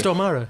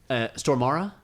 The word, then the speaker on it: Stormare: Stormare, yeah. Is that how you pronounce it? Stormare, yeah. Okay, I've been saying Stormare all these years, and I feel like an idiot now. It's okay, man. Stormara?